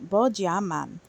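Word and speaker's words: 波加曼: regional league in Taipei Taiwan the traditional Chinese pronunciation of this of Piplup is bojaman and this is promo 157.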